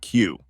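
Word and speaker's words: queue: Just today, they were confused with the pronunciation of the word Q, Oh yes, that's a tough one. What did you say to them? that it is just a Q followed by 4 silent letters.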